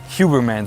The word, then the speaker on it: Huberman: Huberman. That's how you would say the German it.